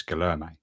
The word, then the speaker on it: Guillermo: Well, I was very keen to know exactly how you pronounce it, and in his welcome video, he pronounced his own name as Lewis Guillermo.